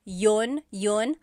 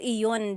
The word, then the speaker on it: iyon: You might hear me saying yun, as if there's no I, and that's commonly how it's pronounced. You might hear people say, ginawa ko iyon dahil mahal kita, but